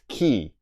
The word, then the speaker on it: quay: u why right but it's pronounced key so only you all